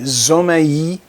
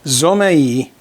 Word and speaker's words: Zomei: i am reviewing the zomaii that's the way i'd pronounce it well i i revert to my latin pronunciations speaking spanish and portuguese zomaii 150 watt led video